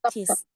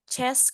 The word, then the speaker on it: chess: Club I love playing cheese kalau cheese itu artinya keju kalau ini CH artinya catur CH chess Club I love playing